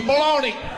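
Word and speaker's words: bologna: balone all right H how you want to pronounce this word baloney I don't know if you saw there's a g in the word I don't see no G baloney okay well the word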